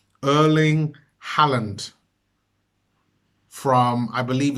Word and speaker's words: Erling Haaland: replacement for a bearing and I want to pronounce his name correctly and it's Earling Halland from I believe it's Norway and absolutely fantastic